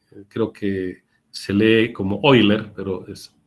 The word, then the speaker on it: Euler: sería el criterio técnico para poder seleccionar máquinas, los triángulos de velocidades, la ecuación de Euler para las turbomáquinas y los tipos de turbinas por grados de acción.